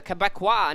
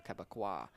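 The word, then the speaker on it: Québécois: The Quebecois native.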